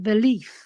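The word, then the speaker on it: Véliz: He says you have to pronounce it Valif with an F.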